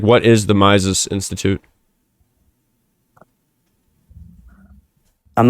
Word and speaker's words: Mises: It's not Miles. It's Miss S Institute. Spell it. M I S E S.